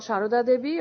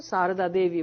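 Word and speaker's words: Sarada Devi: her called as such she is usually called shahrudadevi or in the well bengali pronunciation sardar devi would be the other one but she's also called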